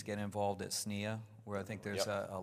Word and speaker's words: SNIA: So I think for persistent memory, it's get involved at SNEA, where I think there's a lot of activity, and also JEDEC.